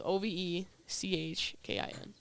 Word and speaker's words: Ovechkin: nickname Ovi, but it's Ovechkin, but it's like it's Ovechkin.